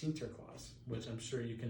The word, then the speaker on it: Sinterklaas: article titled santa claus saint nicholas in dutch is actually pronounced sinterklaas which i'm sure you